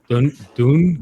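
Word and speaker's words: Doune: but fourth bridge is pretty cool oh it's Dune d-o-u-n-e Castle yes right there doing Castle I think um yeah I pretty much pronounced every single Castle wrong that we visited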